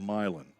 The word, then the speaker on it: Milan: It's what the little city in Denton, West Tennessee should be called, Milan, Tennessee. Instead, it's called Milan, spelled the same.